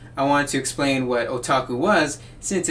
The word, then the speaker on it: otaku: to spell it with a English alphabet it's o t a k u and of course you pronounce it otaku pretty easy and basically um